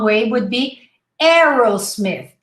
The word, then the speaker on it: Aerosmith: wrong way would be aerosmith instead of aido ayero we simply say arrow it's like forget the spelling forget the a just say arrow very simple so aaron